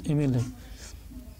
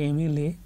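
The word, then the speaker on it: MLA: এমএলএ a sound আসছে, বাংলাতে a sound আসছে, তাই এটার উচ্চারণ ভাওয়েলের মতো হচ্ছে।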